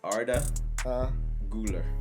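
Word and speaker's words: Arda Güler: I'll let y'all get on him can you pronounce that uh it's Arda gular okay otter Gula look he is a Turkish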